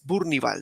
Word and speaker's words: Bournival: Y hablando de esa cultura, eh de hecho, Gisel, pues tu apellido me confundió un poco porque es Burnival, ¿cierto? Así se pronuncia.